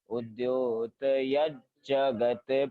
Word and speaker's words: उद्योतयज्जगत्: जहाँ पे लिखा ना उद्योतयज, तो आपको यज ही पढ़ना है, यत नहीं पढ़ना। उद्योत यज जगत पूर्व शशांक बिंबम, वहां पे ज का उच्चारण आना चाहिए।